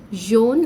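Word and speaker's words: jaune: young john means yellow remember slight difference in the pronunciation will make a lot of difference and will change the meaning of the word so john is young jon is yellow rouge okay here i want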